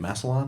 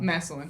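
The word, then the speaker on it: Massillon: Masselon. Masselin.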